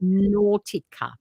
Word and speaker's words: Nautica: Nautica. It's phonetically Nortica.